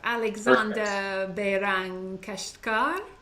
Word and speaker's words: Alexander Behrang Keshtkar: Alexander Behrang Keshtkar. Is that the correct pronunciation?